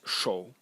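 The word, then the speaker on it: 扌: And the semantic element is this one, and it's pronounced shou, and it's a hand.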